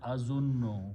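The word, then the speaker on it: أَظُنُّ: So when you combine two noons with a shadda, it will be pronounced as azunno, which is the word in the Quran. Azunno means I think, I guess.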